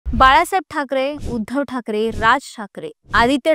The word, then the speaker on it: Thackeray: टी एच ए सी के इ आर ए वाय या spelling नुसार त्याचा उल्लेख ठकरे असा होतो ठाकरे या उच्चारानुसार स्पेलिंग कसं पाहिजे होतं टी एच ए के ए आर इ पण ठाकरे आनावाच स्पेलिंग